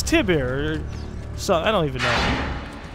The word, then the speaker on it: Tiber: were over there by Tyber Island whoopsie wait you know what I've probably been saying it wrong it's Tiber so I don't even